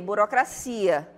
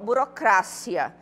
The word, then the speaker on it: burocracia: pronunciação da língua portuguesa já burocracia não a gente observa que em português a gente fala o quê burocracia é isso em espanhol burocracia Então também não poderia